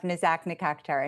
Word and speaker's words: Nazak Nikakhtar: former Undersecretary of Commerce and International Trade Attorney Nazak Nikakhtar. Boy, I hope I got that right. Please state your name so I can pronounce it correctly. Close enough, Nazak Nikakhtar, and very good to be with you.